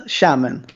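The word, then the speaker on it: Xiamen: will criticize my Chinese pronunciation but yeah it's pronounced shamon like shamon could you speak say yeah yeah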